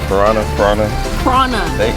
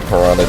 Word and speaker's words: Piranha: We have fun at Piranha. They pronounce it not Piranha down here. We pronounce it Piranha.